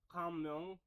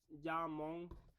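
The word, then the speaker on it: 자몽: I mean, this is, I mean, mango, orange, kamyong. So yeah, sorry, I'm pronouncing it. It's called jamong, and then a grapes, podu, podu juice.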